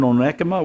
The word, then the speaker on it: Onekama: I was at camp at Little Eden in Onekama. 1 comma that's how you spell it.